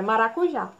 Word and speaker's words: maracujá: e a próxima palavra maracujá é interessante que vocês leiam essa palavra como se fosse cansando o mesmo tá certo maracujá qual é a sílaba mais forte é o já então tá aqui é